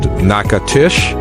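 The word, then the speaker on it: Natchitoches: Let's head down to the Louisiana Bayou to visit Nacatish. Pronounced Nakatish, it's the oldest permanent settlement in the entire Louisiana Purchase territory.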